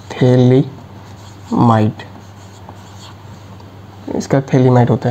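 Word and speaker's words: Phthalimide: थैलीमाइड इसका नाम थैलीमाइड है। पी वाला साइलेंट होता है। थैली माइट इसका थैलीमाइड होता है।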